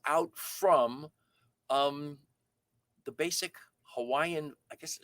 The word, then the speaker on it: Hawaii: hawaiian words it's not hawaii it's hawaii um that in in certain cases where there's the w a i that is pronounced with the with the v sound for the w so it's hawaii is